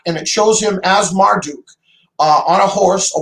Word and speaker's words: Marduk: kinds of different ways marduk duck uh i like the way you said it almost in the um babylonian style marduk like zacharias sitchin